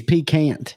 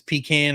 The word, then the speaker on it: pecan: It's pecant. It's pecan or pecan. There's only 2 ways to say it, Ben.